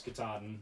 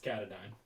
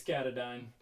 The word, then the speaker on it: Katadyn: the appalachian trail and i thought it was katahdin but apparently it's katadyn and so if you're like me and you're new to the camping world and you're watching this video it's katadyn say it like 400 times and and you'll